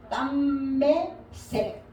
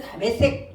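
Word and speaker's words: דַּמֶּשֶׂק: 자, 땀매색 이렇게 돼. 땀매색 이렇게 해야 히브리식 발음이다 이 말이에요. 우리는 담의색 이렇게 이야기하잖아.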